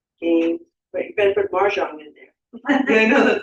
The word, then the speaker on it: Mahjong: only for the- Mahjong. No R. I'm from New York, I'm saying Marshall.